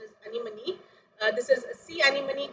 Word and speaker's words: anemone: you here we have a uh sea animal anime actually the pronunciation is anemone this is a sea animal called as ademsia